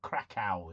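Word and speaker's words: Kraków: Poland or Crackow. If you choose to pronounce the W as a W, not a V.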